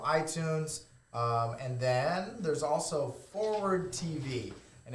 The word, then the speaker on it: FWRD: and then there's also Forward TV, and it's spelled FWRD, and that stands for forward, not the F word.